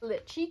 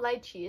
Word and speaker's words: lychee: Lychee cake? I don't think that's how you say it. Not lychee, it's lychee. It looks like it would be a really soft piece of bread.